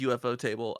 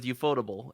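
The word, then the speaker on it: ufotable: UFO table it is no it absolutely is UFO table I we used to pronounce it as euph fodable and he still pronounced it eup fodable but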